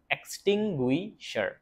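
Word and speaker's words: extinguisher: এক্স এক্স টি আই এনটি ইউ আই গুই এসই আরশার এক্সটিংুইশার।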